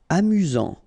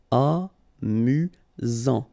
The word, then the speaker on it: amusant: Amusant. Final T not pronounced. You've got only one S here between the vowels, so it's really this Z sound. Amusant. Amusant.